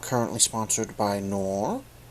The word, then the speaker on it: Knorr: not currently sponsored by nor of which i believe is the pronunciation of the brand name as i believe the case to be silent however i'd like to